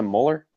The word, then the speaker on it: Muller: alright wait what this it was a molar yeah molar but I always said Muller in the past cuz the way it's spelled anyway he's on there